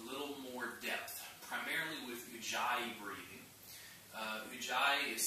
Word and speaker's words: ujjayi: video I wanted to talk about a little more depth, primarily with ujjayi breathing. Ujjayi is spelled U-J-J-A-Y-A, I believe.